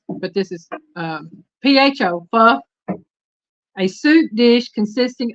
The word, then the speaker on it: pho: Now, I know I probably pronounced it wrong, but this is PHO, pho.